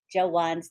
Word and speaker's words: Jawan: know how to say jawan's name I always say Joshua but it's Jawan Jawan Lucas yes thank